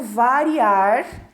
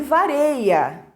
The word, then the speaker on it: varia: forma incorreta o verbo variar flexionado na terceira pessoa do singular no presente do indicativo é um ela disse aí vareia EA forma correta para esse verbo seria aí varia né então ela cometeu